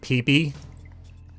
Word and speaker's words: Peep: Also, even though it's spelled peep, it's supposed to be pronounced peepy because he sprays piss all over the place.